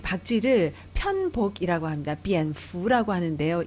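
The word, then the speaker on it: 蝙蝠: 비엔푸라고 하는데요. 이 fu라는 것이 우리가 말하는 그 복을 빌다 할 때 그 복자하고 발음이 같습니다.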